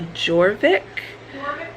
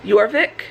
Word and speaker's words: Jorvik: we're going to the I think it's called the joric yorvik yorvik it's the it's pronounced y yic yeah yeah and the J is yeah I mean with